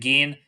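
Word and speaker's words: Gin: don't really get introduced to are Pearl and Gan I know it's spelled like Jin but it's pronounced Gan so I want to throw that out there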